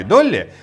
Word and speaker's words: DALL-E: В 21 году стартовал проект DALL-E, произносится как Долли, вот как та самая овечка.